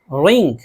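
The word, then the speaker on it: wring: रिंग, रिंग मरोड़ना।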